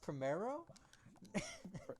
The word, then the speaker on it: primero: okay i'll tell you right now that it's pronounced primero primero primero tomato tomato same thing you know